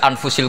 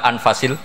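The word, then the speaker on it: أنفس: saja di sini ditulis anfusil kutub kalau saya baca anfasil kutub karena maknanya kitab ter baik Kalau kitab terbaik bacanya bukan anfus tapi apa anfas ya nanti kamu debat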